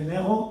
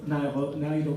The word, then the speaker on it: Nairo: Et vous qui prononcez Nero, alors vous diriez Nairo Quintana.